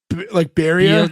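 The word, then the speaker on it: Birger: your dad's name is Burger? And just, what is it pronounced? Like Barrier? Yeah. It's like beer. It's like beer. Your king. Yeah, Barrier. Barrier. Beer. Your. Yeah.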